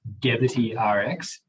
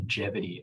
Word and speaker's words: Gevity: with the name sorry i was pronouncing it deputy rx and then my fiance grace was like it's definitely jeopardy as in longevity uh and that yeah